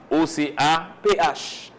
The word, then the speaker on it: OCAPH: qui c'est au Cap OCAPH. OCAPH. Donc, qui en créole, c'est OCAP. OCAP. Nous ne pas prononcer PH comme F, nous fait P.